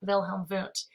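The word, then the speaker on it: Wilhelm Wundt: is wilhelm voont so i know it's with the w but it's german so it's pronounced wilhelm voont he founded the first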